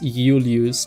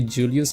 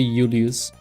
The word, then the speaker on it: Julius: The J you pronounce it as Ulus. You don't say Julius, you say Ulus.